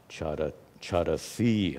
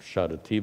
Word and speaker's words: charasi: Top line, gudhaha charasi. I pronounced charati before. This is in the second person, charasi.